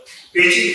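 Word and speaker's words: 北京: शहर का नाम पेचिंग है, लिखते भी हैं लेकिन बी में ब नहीं होते, वो प, तो इसके लिए पेचिंग। और पेचिंग का एक मतलब है, पेचिंग पे मतलब नॉर्थ और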